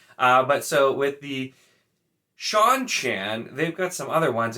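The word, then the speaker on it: Seanchan: small one but and then we have the sean chan which this one annoys me because of all of the like names that are pronounced differently than they're spelled you're gonna tell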